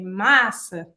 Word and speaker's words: massa: And if you want to say pasta, you stress the first A, so you're going to open it a bit and you say massa.